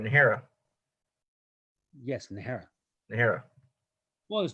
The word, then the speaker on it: Najera: The J is an H sound.